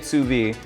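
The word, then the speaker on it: sous vide: this is called SUV they spell it all kinds of weird ways but you say it suvi and we want this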